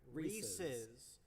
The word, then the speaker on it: Reese's: year they're fantastic but notice how you're saying it correctly reese's because it's a person rhys and they're his pieces or they're his cup so does it bother